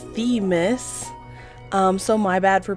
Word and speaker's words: Themis: So yes, I did learn how it was pronounced. It's Themis.